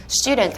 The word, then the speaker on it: student: 들어서 아주 간단한 단어 student 한번 생각해 볼게요 학생이라는 단어인데요 요것에 강세는 유에 들어가 있어요 렇게 발음해 주셔야지 이렇게